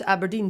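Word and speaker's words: abrdn: just called aberdeen yes a burden yeah you're supposed to pronounce aberdeen so essentially they're just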